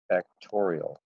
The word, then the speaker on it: factorial: It's n factorial. That is how that is pronounced, n factorial. You can all say factorial. All right, not n exclamation point.